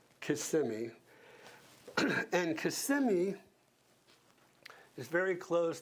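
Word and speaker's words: Kissimmee: Solivida is in CMI, and that's how you say it. Not Kimmy, Casemi.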